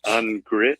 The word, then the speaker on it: Ungricht: It is pronounced Ungricht. I'm dying. The T is silent.